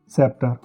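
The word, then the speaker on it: sceptre: एस सी का जो combination है उसमें सी साइलेंट होता है। Science, सेप्टर।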